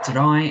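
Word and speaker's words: drei: Remember the E and the I, you make that I sound at the end. 3, and 3 is Nummer 3.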